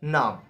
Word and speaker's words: Name: name name in English the spellings are same in German also but the uh pronunciation are different we said in English name but in German we said num num right n a m